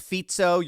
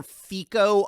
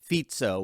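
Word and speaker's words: Fico: fito's shooting and by the way uh it's fito you're going to hear Foo a lot a lot of commentators mispronounce his name because it's spelled fic Co but it is pronounced fito we've done a number of videos on him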